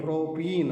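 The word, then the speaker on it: propene: ಪ್ರೋಪೈನ್ ಅಂತ ನಾವು ಕರೀತೀವಿ ಅಂತ ಬರೀಬೇಕು ಉಚ್ಚಾರ ಮಾಡಬೇಕಾದರೂನು ನಾವು ಈ ರೀತಿ ಕರೀಬೇಕು ವಿದ್ಯಾರ್ಥಿಗಳೇ alkyne alkane N ಪ್ರೋಪೇನ್ alkene ಇನ್ ಪ್ರೋಪಿನ್ ಆಲ್ಕೈನ್ ಐನ್ ಪ್ರೋಪೈನ್ ಅಂತ ನಾವು ಉಚ್ಚಾರಣೆ ಮಾಡಬೇಕು ಬರೀಬೇಕಾದರೂನು ಆತರನೇ ನಾವು ಬರೀಬೇಕು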